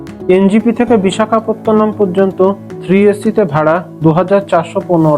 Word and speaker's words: বিশাখাপত্তনম: ইংরেজরা বিশাখাপত্তনম উচ্চারণ করতে পারতো না বলে তারা ভিজাখপত্তনম উচ্চারণ করতো যার থেকে ভাইজাক কথাটি এসেছে। ট্রেন বিশাখাপত্তনম পৌঁছাতে পৌঁছাতে বিকালবেলা